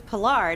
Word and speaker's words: Pilar: It was after like the first week of shows that he was like, why didn't anybody tell me that your name was Pilar, not Pilar?